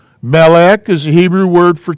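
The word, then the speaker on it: מלך: And that's pronounced meh. I left myself not enough room here. That's not right. Okay, now I got room. So this word is, oops, melech, meh, lek.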